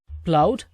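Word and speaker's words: plough: சரி the Barmer பளவட் the பீல்ட்வித் tractor சரி இப்ப கவனிங்க பல் o gh இது வந்து ப்ளோ ப்ளோ அப்படின்னுதான் உச்சரிக்கணும் அப்படின்னா என்ன அர்த்தம் உழுவது அப்படின்னு அர்த்தம்.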